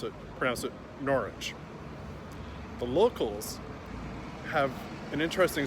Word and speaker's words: Norwich: Most people that know how to pronounce it Norwich. The locals have an interesting sound. They make it sound more like Norwich, so a longer ah.